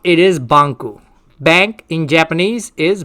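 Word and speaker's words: バンク: japanese word for bank is this and the pronunciation of this is banku yes believe it or not it is banku bank in japanese is banku and bank in italian is banker and bank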